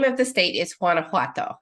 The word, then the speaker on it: Guanajuato: now um the name of the state is Guanajuato it's difficult it's such a beautiful melodic uh